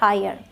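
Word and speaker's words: hire: ई हायर ठीक एच आई आर ई हायर O sound में आते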